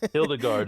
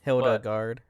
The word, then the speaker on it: Hilda Garde: I'm actually right on pronunciations this week. Hildegard is why I always said I left the E off. Hildegard, yeah. Oh, Hildegard, yeah.